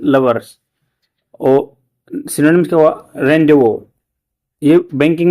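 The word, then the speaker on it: rendezvous: इसको प्रोनाउंसिएशन इसका रेंडवो होगा। जैसे आर इ एन डी जेड ओ वी ओ यू एस है बट इसको रेंडो बोलते हैं।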